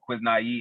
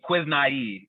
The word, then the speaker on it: Quiznii: And for myself, I say when I got to release my first single called Quiz Naive in 2019, that was just the beginning. It's called Quiz Naive. It's spelled it's spelled Quiznii, and it's a made